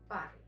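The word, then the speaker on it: parlent: This combination of letters otherwise definitely is pronounced as on, but when as a verb ending it is silent, it is pronounced just as e.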